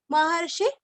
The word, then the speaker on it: महर्षि: महर्षि, महर्षि शब्द सभी को पता है, मैं विश्लेषण ज्यादा नहीं करती। महर्षि का सिर्फ शी रस्व लेना है। महर्षि कपिलाचार्य, कपि का पीरस्व,